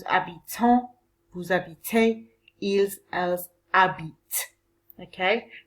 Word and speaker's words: habitent: Nous habitons, vous habitez, ils, elles habitent. Okay? Remember that the ENT when you're speaking on the end of a verb is silent.